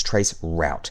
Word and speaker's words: traceroute: is trace RT, but in Linux, you're typing in the entire word. It's trace route.